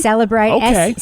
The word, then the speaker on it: Cellebrite: Cellebrite c e l l e bright. Cellebrite okay so So that's how I'm pronouncing that's how they've been pronouncing it in court.